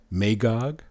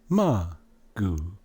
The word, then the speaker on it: Magog: Then you have Magog. There's no A in Hebrew. It'll be Ma. And you know the rest would be Magoog.